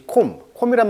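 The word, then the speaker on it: comb: 이것이 콤이란 말 원래 빗질하다 이런 말이니까 탐조등이 마치 빗질하듯이 다 비추고 있는 것이죠. 샅샅이 뒤지다. 그래서 콤 하면은 비가 묵음이죠.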